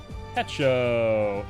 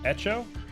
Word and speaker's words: Hecho: name by okay so the h is silent echo or echo echo in mexico mark echo you